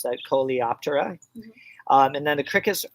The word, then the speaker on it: Coleoptera: The beetles are the sheathed wings, or the, how do you pronounce that? Coleoptera.